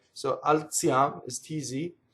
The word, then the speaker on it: alziam: Alziam. So now Z can either make a DZ sound or a TZ sound, right? So in this case, it's TZ, like in pizza, right?